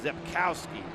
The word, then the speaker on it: Rzepkowski: You can see the spelling of his name there with the great shots we're getting, but that is Rzepkowski, Richard Rzepkowski. The R is silent in that 74 MG midget.